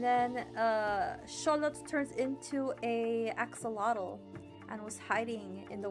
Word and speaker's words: axolotl: Axolotl are adorable. Yeah, you know, in English we say axolotl, but the more correct pronunciation would be axolotl.